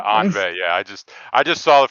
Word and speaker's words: ennui: Oh yeah, maybe Anway, or maybe my pronunciation was shit on that. Sorry guys. It's apparently like Unvi or something. Yeah, Anve.